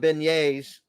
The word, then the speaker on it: beignet: No, it's not beignets.